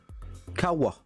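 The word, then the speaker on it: 川: C'est Kawa.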